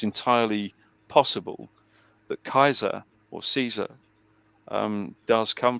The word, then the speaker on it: Caesar: said that in Phoenician Caesar or as it's pronounced in in ancient Latin Kaiser as exactly as it's as exactly as it's